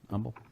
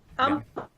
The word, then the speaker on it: Humble: homebrew store over there humble mm-hmm free classes humble humble humble you can't pronounce the age don't pronounce the H and don't do a